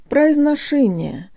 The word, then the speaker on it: произношение: guys, today you'll learn how to pronounce the word произношение, or pronunciation. Think of the phrase, put a sock in it.